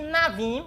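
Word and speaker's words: נביא: E navim, aqui nós temos a palavra navim, que é N e o A, o V e o I, e o Aleph, que é mudo. Então, navi.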